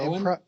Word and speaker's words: Cohan: Cohan was born in Cohen? Cohen, yeah. Yeah, I don't know why I had such hard trouble pronouncing that.